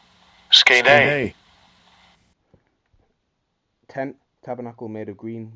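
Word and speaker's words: σκηνή: In the Greek, it's pronounced Strong's G4633, Skene. Skene.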